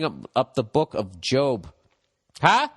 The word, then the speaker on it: Job: up the book of job huh look at that i said it right i didn't say job job which reads as a